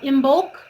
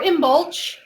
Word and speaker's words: Imbolc: But onward the wheel turns, and next we have Imbolc or Imbolc, which is the midpoint of winter.